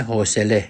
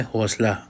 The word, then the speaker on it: حوصله: ڈالنا چاہوں گا، اور وہ ہے لفظ حوصلہ، جو ایرانی لہجے میں حوصلے کہا جاتا ہے، جس کو ہم اردو میں حوصلہ پڑھتے ہیں۔ خیر، یہ لفظ دونوں